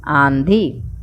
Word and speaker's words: आंधी: उत्तर, कहा और आधी बोलने में नाक से न का उच्चारण नहीं होता है, जबकि कहाँ और आंधी बोलने में होता है।